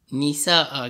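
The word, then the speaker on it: نساء: Okay, cara tulisan dalam Al-Quran, kalau nak ikut bacanya wanisa'an. Asalnya wanisa'an. Tapi bila nak wakaf, nak baca, nak berhenti pada kalimah yang ada fathatain, kita sebut nisa'a. Kita gantikan an jadi a balik nah.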